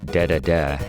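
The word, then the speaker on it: Dedede: the naughty King DDD if they pronounce it de de in Japan but yeah King DDD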